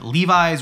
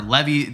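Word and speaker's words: levis: I have a knobtale Levi's or Levy like it depends how you pronounce it I know everyone's very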